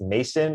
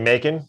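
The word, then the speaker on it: Macon: is this is pronounced mason or macan it's m-a-c-o-n georgia so apologies if anyone's from that area is it making making it like bacon yeah actually that makes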